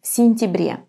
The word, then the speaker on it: сентябре: And when the ya is unstressed and it's in the middle of the word, it's going to be pronounced just as an e, сентябре.